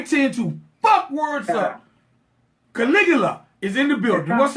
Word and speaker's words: Caligula: It's Caligula. Caligula. You know what? Man, I'm from a very small town, and I tend to fuck words up. Caligula is in the building.